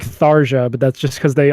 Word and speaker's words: Tharja: Tharja, I don't know how you pronounce it. Matt, you're the expert. You probably jacked off to her multiple times. That's Tharja.